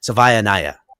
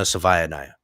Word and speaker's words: Savaiinaea: Now, to my understanding, there's been no official news on the circum the situation with Jonah Sava Savanayiah. That's how you say his name. Jonah Savaniah.